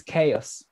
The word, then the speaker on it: XaoS: this a piece of software so this is chaos chaos ks comes from the greek history so